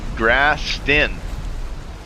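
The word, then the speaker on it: Grausten: How do you pronounce that? Grastin.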